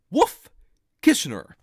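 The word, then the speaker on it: Wolff–Kishner: going to talk about something that we call Wolf kissner all right so let me spell that out w l f f k i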